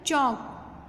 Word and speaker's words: chalk: Fifth है चौक, CHALK लेकिन L silent है।